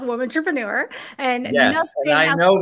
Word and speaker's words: WOMANtrepreneur: It is called WOMANtrepreneur.